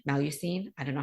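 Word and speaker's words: Mélusine: Werewolves, obviously, the changelings, I'm probably going to say this wrong, Melusine. I don't know how you say it. Melusine.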